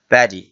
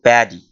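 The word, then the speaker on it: paddy: শব্দে পরের শব্দটি হলো প্যাডি অনেকে পাডিও বলে থাকে প্যাডি উচ্চারণটি হবে প্যাডি ইংলিশে এটাকে প্যাডি বলা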